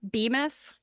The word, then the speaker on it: Bemis: I do have to say though, to throw it out there, Bemis, I think that's how it's pronounced, BEMIS. They were one of the big bag manufacturers, and I see the them a mills.